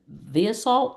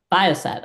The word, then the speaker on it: Viasat: She previously worked at Viasalt. How do you say that? Why is that? Viasat.